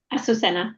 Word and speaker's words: Azucena: And I will pass it on to, is it Azucena? Is that how you say it? Yep. Azucena. Yes, thank you.